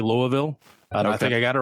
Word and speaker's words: Louisville: Well, Brian, speaking of your vacation, you went to Louisville, I believe, is the way it's supposed to be pronounced.